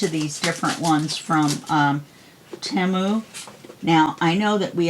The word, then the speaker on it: Temu: But I watched the Super Bowl and I saw the commercial, and on the commercial they pronounced it Temu. Almost like Shamu the whale.